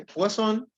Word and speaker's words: Poisson: Se escribe Poisson, pero se dice Poisson.